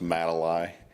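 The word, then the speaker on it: Madoli: is what say uh that word's pronounced matali matal yeah it's a it's just a combination of my two daughters names put together so okay thank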